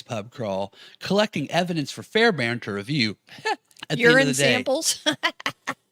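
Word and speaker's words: Fairbairn: fairbarn this is a so fair I want to spell it f a i r b a i r n Fair Baron there's a kicker for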